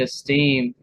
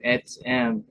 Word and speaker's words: etzem: At first I said esteem, like self-esteem, but who knows where we get our English words from. They could have a similar meaning, but this is the way you pronounce it in Hebrew. Etzem literally means bone, but